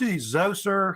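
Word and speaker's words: Djoser: And there's King, pronounced Zoser, how they say it's spelled different ways.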